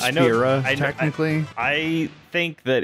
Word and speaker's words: Fira: How do you pronounce the second one of those? What? Fire spells. Fyra. Okay. I know it's Fira, technically.